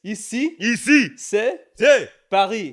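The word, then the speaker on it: Ici c'est Paris: It's ici, c'est Paris.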